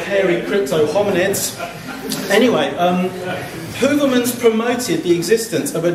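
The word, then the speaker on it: Heuvelmans: late Belgian zoologist Bernard hoverman there are several different ways of pronouncing his soname but today I'm going with hoverman there are various illustrations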